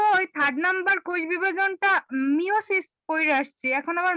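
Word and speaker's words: meiosis: মায়োসিস তো না, মিওসিস।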